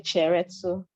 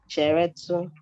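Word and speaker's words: cheretu: If you want to say excuse me, you say cheretsu. How do you spell that? Yeah, C-H-E-R-E-T-U. Cheretsu.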